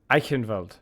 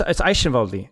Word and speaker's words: Eichenwalde: Okay, dude, that's how I used to pronounce it. And then some other German dude, who forget who it was like, oh, it's Eichenwalde. I'm like, what? Really? But it's just Eichenwald.